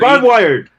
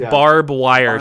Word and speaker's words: Barb Wire: No, that's a different character. It's just Barb Wire.